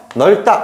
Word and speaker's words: 넓다: 같은 경우는 어디가 살아남았어요 여기 앞에 있는 리을이 살아남았어요 그래서 여기는 앞쪽이 뒤로